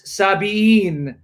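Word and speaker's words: الصابئين: But in the other occurrence, 262, it's Sabiin. Yes. So they're not spelled the same in Arabic. Exactly. And only one can be correct. And we know that Sabi'in is the correct way.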